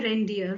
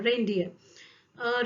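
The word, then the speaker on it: reindeer: हो जाएगा 12थ है रेनडियर रेनडियर रेनडियर जब आप प्रोनाउंस करेंगे तो रेन रे का साउंड आपके मुंह से निकलेगा ठीक है इंग्लिश में भी रे निकलेगा रे ऐसा कुछ रे इजट इट दोनों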